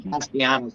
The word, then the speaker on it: Castellanos: That's what I figured, but I was saying Castellanos.